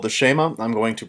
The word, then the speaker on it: Shema: It's called the Shema. I'm going to pronounce it as I learned it from my